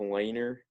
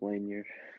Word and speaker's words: Lanier: Right, 71, Bob Lanier Lanier.